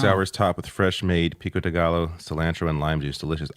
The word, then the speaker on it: pico de gallo: Pico de gallo. I can't eat pico de gallo, though. Pico de gallo, yeah. Yeah, you don't pronounce That's right, the L's you don't pronounce.